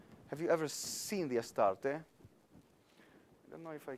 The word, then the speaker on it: Astarte: How you say it in English? Astarte, am I right? Used with the Hebrew pronunciation, or the English one, I think is Astarte.